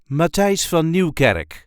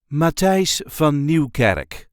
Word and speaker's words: Matthijs van Nieuwkerk: a regular Dutch accent ma F Newar Dutch journalist and TV host the correct pronunciation is ma F Newar ma Newar there is a light emphasis on the first part of the third name Ma f new M